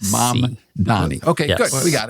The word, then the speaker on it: Mamdani: Zoran Mamdani. So it's the mom before the man. It's Mamdani.